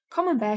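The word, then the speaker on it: Camembert: brie and with oysters common bear should be eaten only in the r months and of these September is the best since common Bear rhymes with beware if you can't get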